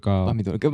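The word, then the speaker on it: помидор: 포미도르가 아마 토마토라는 러시아어로 토마토라는 뜻인데 왜 토마토인지는 모르겠어요. 네, 파미도르가 맞죠. 발음이에요. 네.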